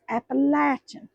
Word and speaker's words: Appalachian: And it's Appalachia, not Appalachian, it's Appalachin in case y'all need to know how to pronounce that.